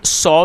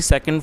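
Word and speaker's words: saw: काफ़ी सारे लोग इसको सा पढ़ते हैं, लेकिन आपको इसे सा नहीं पढ़ना है, इसको सॉ पढ़ना है।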